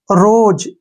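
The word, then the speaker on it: rose: ई आया है तो यहां पर ओ का उच्चारण हम ओ करेंगे रोप आर ओ एस ई रोज यहां पर भी क्या है ओ के बाद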